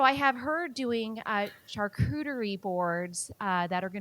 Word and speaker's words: charcuterie: is um i don't even know how to pronounce this you probably know v it's called chartreutery a church charcuterie yeah yeah so the rural side of that